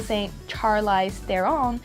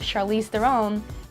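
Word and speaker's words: Charlize Theron: some words for example st. Charlie's their own instead of charlize their own and clean this instead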